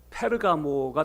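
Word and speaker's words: Πέργαμος: 어 헬러어로 발음하면 페르가모가 됩니다. 페르가모. 페르가모스라고 하는이 단어가 합해진 건데이 페르라고 하는이 말은 가면 일종이란 뜻이에요.이 가모스라고 하는이 말은 결혼이란 뜻이에요.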